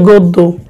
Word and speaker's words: গদ্য: যেমন হচ্ছে গদ্য, কি হবে? গো দো।